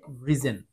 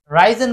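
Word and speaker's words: risen: এন এটার উচ্চারণ হবে রিজন এটার উচ্চারণ হবে রিজন অনেকে এটাকে আবার রাইজেন বলবেন কিন্তু রাইজেন উচ্চারণ না এটার উচ্চারণ হচ্ছে রিজন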